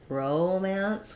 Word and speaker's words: romance: it either way romance this is one where if we're talking about the noun it's going to sound like romance with first syllable stress um or the adjective she reads a lot of romance novels she's involved in Romance but for the verb do we have a verb he's going to romance the Romancing of the stone yeah verb is going to be romance um so we have